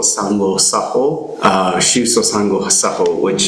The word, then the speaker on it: Sango: So I'm not sure if there's one online in terms of where you could find the Shuso Sango Saho. Again, it's spelled S-H-U-S-O.